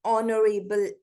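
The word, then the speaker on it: honorable: Doctor, N orange, N ऑनरेबल मैन। ऑनरेबल देखिए एच से start हो रहा है, लेकिन इसकी प्रोनाउंसिएशन ओ निकल रही है, और ओ क्या है? वाउल है।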